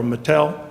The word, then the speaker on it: IG Metall: by Charles about our IG Metall or Mattel as is pronounced in Germany again a similar situation